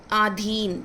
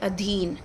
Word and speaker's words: अधीन: नहीं होनी चाहिए जैसे आधीन तो ये होना चाहिए अधीन अत्याधिक नहीं होता है